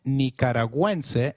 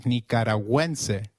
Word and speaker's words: Nicaragüense: Gu, when followed by another vowel like in gue, is pronounced like gue in Gwen. So, let's try saying Nicaragüense again. It is Nicaragüense.